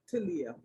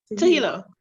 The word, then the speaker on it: Tahila: I want to tell you this, Talia. Is it Tahila or Talia? Tahila. Tahila, right.